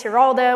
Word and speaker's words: Giraldo: My second last name is Giraldo, which is a G pronounced like an H.